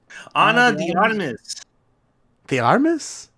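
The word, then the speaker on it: Ana de Armas: to not to sound rude you you you pronounced your name really white bro really Deus Anna Deus the armis yes that's how you say it said Moss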